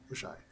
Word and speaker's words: Oxai: Oxai in Vesk is pronounced with SH. Oshai.